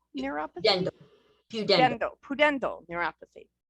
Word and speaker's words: pudendal: known as is it Putin doll you know pudendal neuropathy I'm putting the emphasis on the wrong syllable yeah it's viewed Endo yep Emerald that's okay